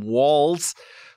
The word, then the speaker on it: Walz: published Minnesota Governor Tim Walls uh since then we've learned a lot about the Bernie supported bro uh first that you pronounce his name walls um also that he's